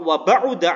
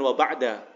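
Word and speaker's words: وَبَعُدَ: Au balaghuma, atau satir tersebut sampai 2/3 dzira' wa ba'uda anhu, ini bacanya wa ba'uda bukan wa ba'da.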